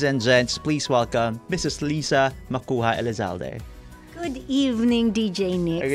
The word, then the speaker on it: Lisa: I also did pronounce it as Lisa. Mm-hmm. So it's supposed to be Lisa with an S.